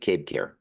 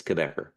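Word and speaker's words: Cabécar: tribe is the quebecer it sounds like somebody from the province of Quebec if you're Canadian the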